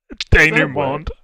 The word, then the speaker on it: denouement: Denouement. Denouement. I've never seen that word before in my life. It's denouement. Phonetically, he said it correctly.